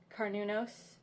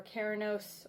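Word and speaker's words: Cernunnos: on the horn god carnunos or kyranos or sir ninos or cerenos it really depends on how you want to pronounce it or how how his energy comes across to you for me i call him kyranos like heron but nunos at the end so karanos he appears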